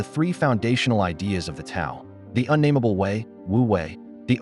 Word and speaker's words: Tao: At the very center of Taoism is the concept of the Tao pronounced Dao.